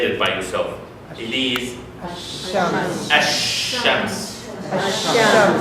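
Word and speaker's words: الشمس: It is ash-shams. Why we didn't say al-shams? Because it is difficult.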